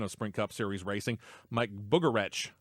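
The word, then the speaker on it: Mike Bugarewicz: spring cup series racing mike boogeretch as i found out his name is pronounced takes over for the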